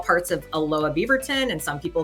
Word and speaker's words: Aloha: We pronounce, it's not Aloha, it's Aloha. Like we say here in Portland, Aloha.